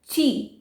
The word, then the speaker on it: Qi: तो उसके बाद है ची। यस, इधर QI लिखा है बट आई am pronouncing it एज ची।